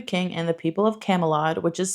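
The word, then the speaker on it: Camulod: to serving the king and the people of Camelad, which is spelled differently, by the way. I'm not pronouncing it wrong. It's C A M U L O D. So instead of Camelot, it's Camelad.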